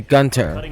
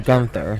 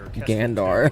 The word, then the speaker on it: Gunther: It is supposed to be Gunter or Gunther not Gandar was at sea.